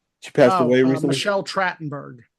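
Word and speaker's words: Trachtenberg: passed away Rec Michelle tratenberg tratenberg that's how you pronounce it yeah were you were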